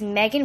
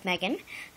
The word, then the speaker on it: Meghan: Her name is Meghan with an H, like strawberry 17. Yeah. So her name is Meghan Anabeth Molina. The H is silent.